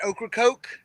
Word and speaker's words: Ocracoke: Ocracoke?